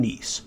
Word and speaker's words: Kneese: i'm your host Sean nice though K is silent now this podcast I